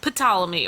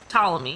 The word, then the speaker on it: Ptolemy: the eto L so potala me or Ptolemy the guy on the elephant yeah the P is silent I'm assuming cuz potala